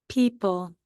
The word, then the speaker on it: people: 2-syllable word. And it's got that final stable syllable at the end. P, E, P, ul. But remember, we need another vowel next to that E to make it say E.